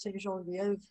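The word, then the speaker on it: Ste. Genevieve: Genevieve, which is, should be pronounced St. Genevieve, and Bourbon and Bonterre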